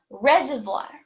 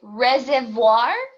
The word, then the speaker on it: reservoir: All right, we have the word reservoir. Sorry, reservoir. That's how you say it.